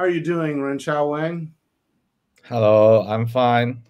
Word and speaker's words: Renchao: So, Renchao, that's the right pronunciation, Renchao? Yeah, Renchao.